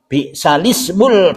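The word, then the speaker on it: بئس الاسم: wala tanabazu bil alqab bi'salismul fusuku ba'dal iman. Ini tulisannya bi'sal ismu ya, tapi bacanya bi'salismul fusuku ba'dal iman.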